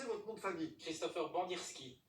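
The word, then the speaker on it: Bandyrskyj: Christopher Bandirski, Ah, c'est Bandirski, tout simplement.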